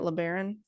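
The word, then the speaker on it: LeBaron: so a Chrysler learon is that how you say it learon yeah that's how you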